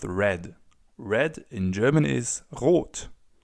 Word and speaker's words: rot: Red in German is rot w.